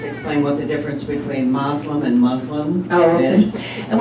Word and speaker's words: Muslim: And the correct pronunciation is Muslim, but you'll hear everything from Muslim to Muslim to, and I think part of that derives from the fact that, in the Arabic language, there's one way to spell that word. But when you're transliterating, from the Arabic alphabet to the Latin alphabet, sometimes it gets spelled M-U-S-L-I-M and sometimes M-O-S-L-E-M, and so you get different pronunciations.